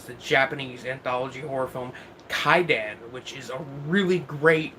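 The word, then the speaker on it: Kwaidan: It's the title is pronounced Kaidan, but the actual title of the film is Kaiwadan, which it's released by Criterion, which I think should be an indicator of the film's quality.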